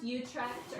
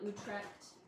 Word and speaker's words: Utrecht: It's got a lot of C's and H's and T's in it, but it's pronounced Utrecht, or some people call it Utrecht.